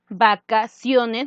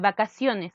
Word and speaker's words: vacaciones: Vacaciones, ¿no es cierto?, la C. La C, ¿cómo se escucha? Vacaciones. Nosotros, ¿cómo escuchamos? Como una S, ¿no es cierto? Como S.